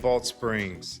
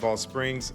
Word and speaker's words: Balch Springs: across both Garland and Rowlett Springs. And the CH in Rowlett Springs is silent, by the way. So, you kind of have to roll the two words together.